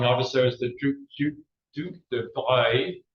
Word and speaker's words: Duc de Broglie: is the Duc de Broglie. It's pronounced Broglie, but it's actually spelled Broglie.